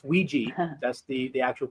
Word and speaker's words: Ouija: Ouija. It's Ouija. That's the actual pronunciation for it.